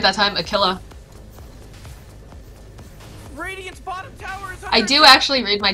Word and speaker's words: Aquila: I said it right that time, Aquila.